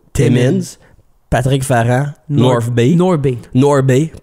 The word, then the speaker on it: North Bay: North Bay, faut pas prononcer le H.